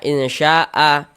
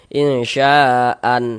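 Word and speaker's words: إنشاء: Insya'a. Ini kita baca insya'a. Jangan dibaca insya'. Dibaca kayak gitu, jangan. Atau insya'an. Nah, jangan, salah. Ini namanya adalah mad iwad.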